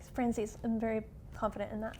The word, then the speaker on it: Franzese: Franzese.